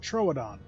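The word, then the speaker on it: Troodon: So it's pronounced troadon is a former waste b waste back basket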